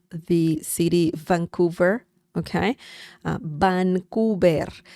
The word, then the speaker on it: Vancouver: Vancouver will be the Spanish pronunciation of the city Vancouver, okay? Uh Vancouver. Remember the V sound in Spanish is similar to B as in bell.